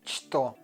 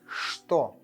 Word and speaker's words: что: And we don't say что, we say что.